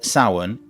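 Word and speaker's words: Samhain: So the ancient Kelts called it sin. Now this word saun is spelled s a m h a i n. Just to confuse people even more. The spelling and the pronunciation are completely different.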